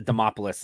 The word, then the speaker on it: Demopoulos: jump into it another favorite of ours Vanessa demopoulos is in the opener I say her name